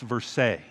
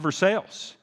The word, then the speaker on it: Versailles: i think it's pronounced verse french influence and french the l's are silent so i'm pretty sure it's pronounced verse she said no i i think this is i think it's called for sales and so we start